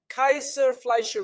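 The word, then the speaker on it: Kayser-Fleischer: I'll use the German term Kaiser-Fleischer rings. It's spelled Kaiser, like the beer we know, and Fleischer.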